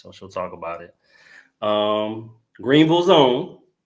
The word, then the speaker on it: Greenville: Greenville's own. I say it right, Greenville, not Greenville. Greenville.